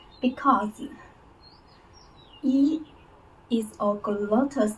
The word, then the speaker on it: 雨: And then we say it say it ü ü as a whole sound. As a whole sound. Because ü is a glottal sound.